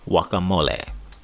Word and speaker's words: guacamole: In Mexican Spanish, it is pronounced guacamole.